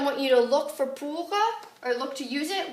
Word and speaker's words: pour: So that brings us to pour, because a lot of times you like to use j'ai étudié le français pour 1 heure. Pour, I think it just rhymes with for, so you're more likely to use it.